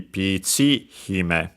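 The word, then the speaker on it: ピーチ姫: So in our case would be pichi hime. So on the accent on the chi, and then hime low.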